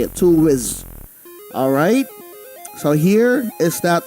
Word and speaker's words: Toolwiz: That's how you say it, Toolwiz.